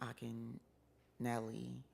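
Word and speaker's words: Akinyele: the time his name he pronounces his name Akin nelli it's spelled Akin y um not going to tell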